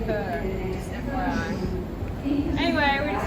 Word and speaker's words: Chur: I was saying Chur, but it's called Kerr, just FYI.